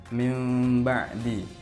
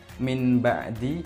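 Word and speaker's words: مِنْ بَعْدِ: semabak tok betul contohnya mimbadi ada juga dengan Innallaha Samiun Basir ada juga ambil hub jadi karang bacanya yaitu membalikkan huruf nun ke huruf mim Jadi bukan Min ba'di tapi mimba'di begitu saja akhir-akhir saya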